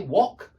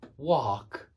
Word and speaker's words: wok: kind of thing stir-fry but in America they don't say Wok they say walk they say walk exactly